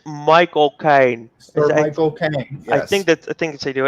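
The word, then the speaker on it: Michael Caine: 32 minutes so uh i think you said his name wrong the butler it's michael kaine i think that i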